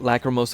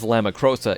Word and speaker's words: Lacrimosa: Ys 8 Lacrimosa of Dana, which I mispronounced for months as Lamacrosa, is my game, man.